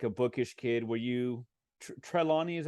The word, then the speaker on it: Trelawny: were you like a bookish kid were you treilani is how you pronounce the name the main character from The Collection trelawny trelawny yeah I mean do you have some chilani